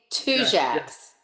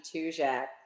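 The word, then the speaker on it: Tujague: jacks yeah it's a it's like two as matter of fact people who heard the name of it and were coming here for the first time often looked for a sign that said t-w-o-j-a-c-k-s but that's actually the surname of guillaume and marie abadi tujak who opened up the restaurant originally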